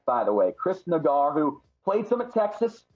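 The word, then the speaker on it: Naggar: Chris, it's pronounced Nagar, by the way. Chris Nagar, who played some at Texas, then SMU, played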